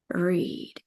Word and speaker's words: หรีด: But we're not gonna pronounce the หอหีบ thing. Keep it silent. And we only pronounce the รอเรือ thing here. R.